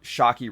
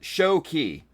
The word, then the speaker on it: Shoky: But anyway, go check out Shocky Reviews. SHOKY. No C. Shocky Reviews. I posted about it. Shoki Reviews. See, I knew I didn't pronounce that right.